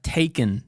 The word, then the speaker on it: taken: O la palabra taken, por ejemplo, ¿no? Taken. That E is a schwa.